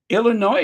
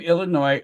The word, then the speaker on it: Illinois: the o i s the S is silent of course it always drives me